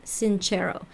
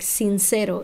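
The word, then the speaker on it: Sincero: the author is jen cinch arrow and that spelled like since arrow in Spanish si NCE ro but hers is Italian that's why it's inch arrow instead so that's an ad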